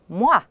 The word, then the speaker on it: moi: Then there's the sound made by the letters OI, wa, which is w and a. Wa. Wa. As in moi.